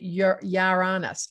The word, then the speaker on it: Uranus: stop talking about your uranus i pronounce it yaranas i know you're honest you're honest robert that's probably a better way to say it so before we go